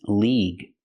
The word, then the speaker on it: league: Use the long E sound like green beans, league.